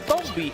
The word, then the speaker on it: Tombi: Raiko, it's pronounced Tombi actually.